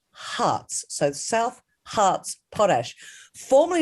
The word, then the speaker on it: Harz: i called it south hars because it is actually spelt h-a-r-z but dr chris actually said to me it's pronounced hearts so south hearts potash